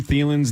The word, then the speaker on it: Thielen: So then the Twitter wave was, have we been mispronouncing Adam Thielen's name the whole time, but he's Minnesota passive-aggressive and hasn't corrected us?